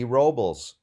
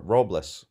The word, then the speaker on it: Robles: the and here's what ad robbles or roblas I think his name is pronounced robless want to get that